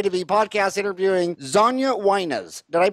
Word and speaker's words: Xaña: for me today to be pod cast interviewing zhonya whiners did i pronounce it right you got it correct yeah